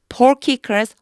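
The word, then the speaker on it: Porcius: 2년이라고 하는 2해가 지나왔을 때, 2해가 지났을 때, Felix was succeeded by Porkicus, 요거 키라고 읽어요. Porkicus Festus.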